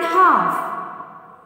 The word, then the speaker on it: half: Then fifth one, half. Here L is the silent letter. Then circle the letter L.